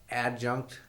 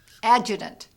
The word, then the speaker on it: adjutant: Now, I mispronounce it all the time. The adjunct? Adjutant. Adjutant. ADJUTANT, Adjutant General's School.